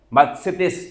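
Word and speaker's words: μαθητής: palabra usa para referirse a discípulos la palabra mates así se pronuncia Y si uno va a un diccionario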